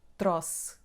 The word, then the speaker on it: trouxe: sound /s/ here and the letter "e" is not pronounced. So the last syllable is just /s/. The first /tro/ the last /s/: /tros/.